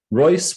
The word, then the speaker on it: Royce: the two men's names, he encouraged Erwin to pronounce his last name as Royce, which he later adopted in his teaching.